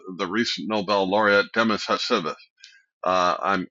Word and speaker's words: Hassabis: recent Nobel laureate Demis Hassabis. Uh I'm I'm mispronouncing that. I think Hassabis.